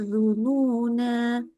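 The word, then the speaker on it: الظنونا: Nah, jadi kalau di sini kalau dia kita wakaf berhenti kita bacanya dununa. Ada lagi ayat sebelahnya. Setelah itu ada tulisannya hunalika gitu ya. Nah, maka kalau kita baca nyambung bacanya bukan adzununa bukan tapi watadunnuna billahidzununa hunalikulial mukminun. Ya, nanya jadi pendek ya. Bisa dilihat ya ketika wasal bacanya nanya jadi pendek. Kalau wakaf nanya jadi panjang.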